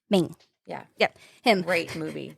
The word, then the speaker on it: Redmayne: How do you say his last name? Eddie Redmayne. Maine.